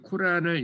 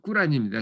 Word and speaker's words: 꾸란: 그래서 제가 그 코란을 읽고 꾸란입니다, 정확한 발음은. 코란이라고 우리는 알고 있죠.